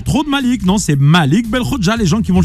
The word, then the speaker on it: Belkhodja: Non, pas Belkhobja, Belkhobja.